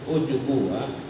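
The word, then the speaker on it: عُجْب: Ujub itu ujub di taskinil jim, bacanya bukan ujub tapi ujub, ujubu. Gimana ya? Ujub. Tapi jimnya itu bukannya dhammah. Bukan ujub, bukan, tapi ujubu. Bi taskinil jim.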